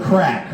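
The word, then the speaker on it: craic: for a good time you say where's the crack or how's the crack. Now that's spelled c r a i c.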